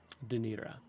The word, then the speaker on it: Danira: Danira, not Daenerys.